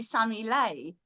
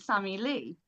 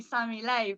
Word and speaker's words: Sammie Lei: Um so yeah, it was basically supposed to be Sammy Lei. Oh. But people kept pronouncing it Sami Lee.